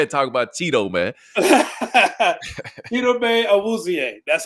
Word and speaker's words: Chidobe Awuzie: Chidobe Awuzie. That's how you pronounce his name.